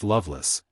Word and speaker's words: Lovelace: name was Fanny Lovelace this name pronounced Loveless is that of an Old English family but Richardson has given